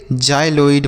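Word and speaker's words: xyloid: जाइलोइड पढ़ेंगे।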